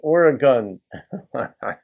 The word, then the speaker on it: Oregon: We hate when people say gone instead of gun. So it's Oregon.